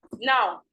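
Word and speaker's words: ń: I'm not saying me. There's no I in front of it. It's just N, and it goes, you're pronouncing it inwards. So wherever you are, I want you to say it to yourself.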